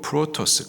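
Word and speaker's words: πρῶτος: 으뜸, 헬라 발음으로 프로토스, 그 뜻은 으뜸, 최고, 머리, 우두머리라는 뜻을 갖고 있습니다.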